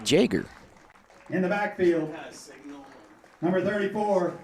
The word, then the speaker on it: Jaeger: a senior number 77 Parker Yeager I'm sorry that's pronounced Jager in the backfield number 34 a sophomore Carter Jaeger number 34.